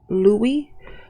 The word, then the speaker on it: Louis: fact that his de pronouncing his name Louie which is a French pronunciation of the name Louis or maybe that's the proper pronunciation and Louis's the Americanized version of it either way it's they're using the French pronunciation but they're speaking in